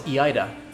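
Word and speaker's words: Iida: missing the point yeah double letters in japanese is pronounced ida oh e ida yeah oh so it's iaida okay thanks daryl you are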